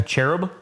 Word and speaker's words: cherub: it reminded me of sherub rock from um from uh is is that how you pronounce that sherub like the angel like the cupid guy the Cherub cherub cherub cherub cherub